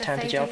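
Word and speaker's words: Tantegel: You must make for Tantacha. You must do all that you can. So glad they pronounced Tantaja properly.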